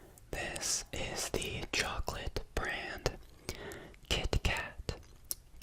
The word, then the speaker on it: KitKat: KitKat. KitKat. I think that's how Americans usually say it. Kit Kat. Kit Kat. They don't really pronounce the T fully.